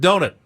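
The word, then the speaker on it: Donat: the Rind and Robert donut actor he is and that's how he I guess pronounces his name just like Paul pronounces donut Robert donut and do Nat Goodbye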